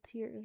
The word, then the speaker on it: tears: Bottle of dimensional tears, rhymes with scares.